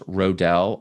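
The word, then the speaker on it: Roedel: John, I believe his name is pronounced Rodell.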